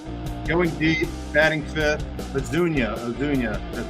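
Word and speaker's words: Ozuna: from the Braves going deep batting fifth Dunya odunia that's how it's pronounced uh Rayleigh really love the call from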